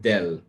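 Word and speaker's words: ∂: right and you notice it is not written as a normal d right but it is a bent d right and that d is pronounced del so therefore this is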